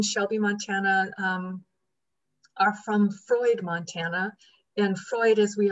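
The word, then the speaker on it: Froid: and so that's where freud came from i also love that it's it's pronounced like sigmund freud um so that's that's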